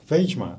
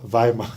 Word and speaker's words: Weijmer: Weijmer. Yeah. I pronounced it correctly. Yes, you did. Yeah, not Weijmer. No, Weijmer. Weijmer.